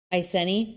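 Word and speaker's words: Iceni: Aseni.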